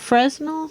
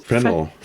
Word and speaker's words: Fresnel: Fresnel? Fresnel.